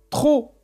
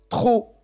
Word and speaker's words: trop: Trop. Oui. On voit la lettre P et on n'entend pas le son P. Trop.